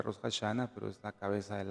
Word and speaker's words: Rosh Hashanah: Eso en hebreo se pronuncia Rosh Hashanah, pero es la cabeza del año o el inicio del año o la fiesta de las trompetas.